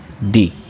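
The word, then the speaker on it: دِين: دے، دال کو بھی مجہول پڑھتے ہیں، تو دے تلفظ یہ مجہول طریقہ ہے۔ صحیح معروف طریقہ کیا ہے؟ دی، حمزہ زیر دال زیر دی، تو کیا ہوگا؟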